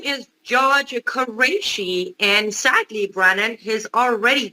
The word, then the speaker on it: Quraishi: him as a federal judge how do you pronounce his name and what is the issue here uh his name is george quraishi and sadly brannon has already confirmed senate already